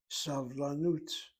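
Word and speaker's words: סבלנות: from the accent, and the accent is on the nun, vav, nun shuritav. Long vowel, closed syllable, irregular, is accented, savlanut.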